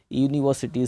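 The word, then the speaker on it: university: तो है तो वर्ड यू वॉवेल, लेकिन साउंड जो है वो कंसोनेंट है। कंसोनेंट साउंड होने की वजह से यूनिवर्सिटी से पहले हम ए लगाएंगे।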